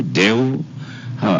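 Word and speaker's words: Deo: So the first name is uh Deh. That one I can manage cuz even in Uganda it's De. Yeah, that's Latin for God.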